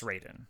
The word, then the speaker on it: Raiden: damn got him next we get to Ryden Raiden okay it's spelled Ryden usually and it's based in Japanese meaning it should be Ryden but it's Raiden anyways on that whole